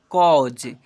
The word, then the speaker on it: cause: है, डाउटर लिखा हुआ ओ के रूप में उच्चारण करेंगे। ठीक है, डाउटर। CAUSE इसे पढ़ेंगे कॉज, NAUGHT नॉटी।